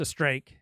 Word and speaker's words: Streeck: Streeck, his name rhymes with cake.